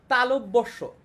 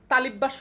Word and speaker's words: তালব্য: তারপরে উষ্মধ্বনি তালব্যস্ব, এইটা কিন্তু এইটার উচ্চারণ কিন্তু তালিব্যাস্য না, ঠিক আছে, এটার উচ্চারণ কি, এটার উচ্চারণ কিন্তু তালিব্যাস্য না, এটার উচ্চারণ হচ্ছে তালব্য, তালু আছে না, তালু থেকে তালব্য তালব্য স যেটা, সেটা হচ্ছে এই যে